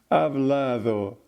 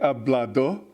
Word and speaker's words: hablado: It doesn't clearly pronounce its consonants. Hablado. They don't say hablado. They say hablado.